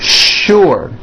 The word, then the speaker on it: sure: What you may not know is that there are some words in English that are written with the letter S, but are pronounced with the SH sound. Words like sugar and sure.